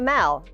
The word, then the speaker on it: Mall: aren't from new report it's called the mao as in the mall in england not the mall it's spelled m-a-l-l stop number three on